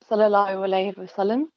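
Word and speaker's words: صلى الله عليه وسلم: So it's pronounced Sallallahu Alaihi Wasallam.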